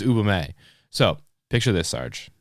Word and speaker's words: Ubume: to talk about the Ubumi. I think that's how you pronounce it. Uboomi. Ubome. Ub Ubume. I think it's Ubume.